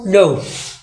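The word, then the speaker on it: know: है 21 केस देखो के कब साइलेंट हो जाए एन से पहले के साइलेंट हो जाए ठीक है कब हो के साइलेंट एन से पहले के साइलेंट हो जाए ठीक है जैसे के एंड डब्लू है का पड़ी नो आ गई ना के हो गई ना साइलेंट अब जी का हो साइलेंट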